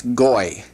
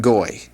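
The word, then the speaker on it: גוי: Goy. That's how you would pronounce that. Goy.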